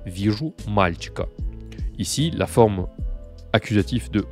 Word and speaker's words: мальчика: Mais la réponse, je te la donne tout de suite, c'est мальчика. Я вижу мальчика. Je mets l'accent tonique comme ça, en gras et surligné.